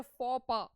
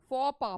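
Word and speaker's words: faux pas: सुन रखा हो तो ये एक वर्ड है इसको प्रोनाउंस करते हैं फपा फपा फूफ सेे याद रखते हैं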